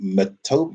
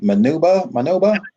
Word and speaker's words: Manitoba: Well, one is some place called, I've never even heard of it, called Manoba. Manitoba. Manitoba. What was Okay, it? Manitoba. Leave the That's Canadian it.